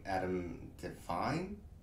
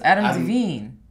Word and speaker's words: Adam DeVine: and it has uh what is it um adam define is that how you pronounce this that's a singer from maroon 5. that's adam devine adam levine oh right sorry adam is that